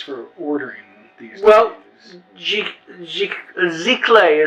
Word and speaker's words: giclée: Giclée is how it's pronounced, but nobody knows how to pronounce it, so we go with Giclée or Gliclée.